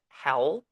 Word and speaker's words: hell: and be burned in hell forever. Where the devil lives. Yeah, Yeah. but in German, same spelling. It just pronounced a little bit different. It's pronounced as hell, Hell.